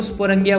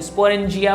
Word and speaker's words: sporangia: Spelling आप देख लेना, SPORANGIA, स्पोरेंजिया बोल लो या स्पोरंगिया बोल लो, बात एक ही है।